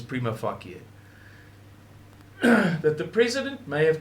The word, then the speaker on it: prima facie: have, by the way, you will hear people pronounce that differently, which is fine. But I promise you, the correct pronunciation is prima facie.